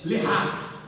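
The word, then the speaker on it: לך: Deus estava dizendo uma palavra que significa lechar. A pronúncia é lehá.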